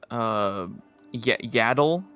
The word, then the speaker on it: Yaddle: But yeah, I suppose Yaddle, is that how you say it, right?